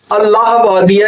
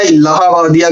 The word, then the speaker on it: Allahbadia: तो उन लोगों ने अल्लाहबादिया या जो है अल्लाहबादिया कह लें या इलाहाबादिया कह लें, अल्लाहबादिया कह लें, अलग अलग लोग कह रहे हैं। लेकिन नाम को जो स्पेल आउट किया जाए और प्रोनाउंसिएशन निकाला जाए तो फिर वो अल्लाहबादिया निकलता है। लेकिन अल्लाहबादिया लोग कह रहे हैं तो हम भी वही कह के इसको संबोधित करते हैं।